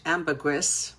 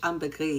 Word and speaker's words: ambergris: So, ambegris, it's actually pronounced in English ambergris, but in French ambegris, you don't pronounce the S.